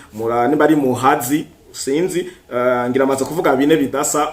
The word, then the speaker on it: Muhazi: uruzi gwitwa Muhazi canke Muhazi urumva prononciation ni y'abanyarwanda si y'abarundi murani bari Muhazi sinzi ngiramaze kuvuga bine